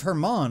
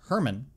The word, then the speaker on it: Hermon: judgment the dues of Hermon often mispronounced as Herman refers to Mount Hermon